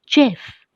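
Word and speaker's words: Geoff: headed by a Canadian Jeff Green children here I must tell you that the name g-e-o-f-f is pronounced as Jeff it's not geof so shall we begin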